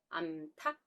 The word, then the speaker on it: 암탉: 현상이 있습니다 대표적인 게 한 마리만 쓸땐 우리가 닭 이라고 부르지만 여자 남자의 개념으로 암수가 연결될 때는 어떻게 보나요 암탉 수탉 이제 이해가 되셨죠 그래서